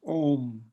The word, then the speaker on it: Om: I mean, of course, the birth of all sound, any known sound, the sound itself is called Om, O-M, or sometimes in English it's spelled A-U-M.